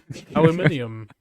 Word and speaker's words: aluminium: Aluminium, as the Brits say.